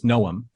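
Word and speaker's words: Noum: and I always get his name wrong, forgive me. It's Noom.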